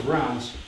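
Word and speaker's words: Reims: Pronounc it correctly now is rounds in the French way.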